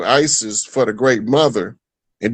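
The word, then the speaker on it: Iesous: Jesus in Greek is Isis.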